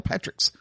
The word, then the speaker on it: Patrick's: I saw the S. I recognized the S, and I still didn't pronounce the S. That one's on me. I apologize. You're okay. So it's funny. You got Dan Patrick and Patrick's. There is an S there, Eddie.